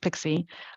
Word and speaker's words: PKCE: either at the time with pkce pronounced pixie um this has been